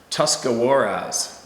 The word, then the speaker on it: Tuscarawas: It's a stretch of road that runs very close to Tuscarawas, pronounced Tuscarawas River.